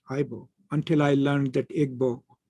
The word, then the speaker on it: Igbo: So I also used Ibo until I learned that Igbo is the original pronunciation and Ibo is the anglicized version of it.